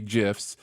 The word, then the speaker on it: GIF: in the history of yes I'm pronouncing it correctly gifs it's the one where